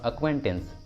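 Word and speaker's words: acquaintance: अक्वेंटेंस, अक्वेंटेंस, इसमें सी क्यू के पहले आया है, क्यू के पहले सी आया है इसलिए सी साइलेंट होगा, इसलिए सही उच्चारण होगा अक्वेंटेंस, अक्वेंटेंस।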